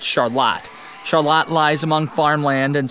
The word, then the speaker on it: Charlotte: name is spelled the same as Charlotte but pronounced Charlotte Charlotte lies among farmland and small Creeks that